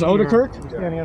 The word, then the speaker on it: Odekirk: It is Odekirk. Is that how it's pronounced? That's correct.